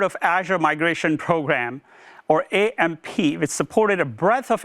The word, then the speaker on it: AMMP: And based on this feedback, we recently evolved AMP as an AMP to become the Azure Migration and Modernization Program, AMMP, still pronounced as AMP, with the support for app modernization scenarios.